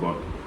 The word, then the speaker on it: GOAT: பட் we pronounce them as காட்.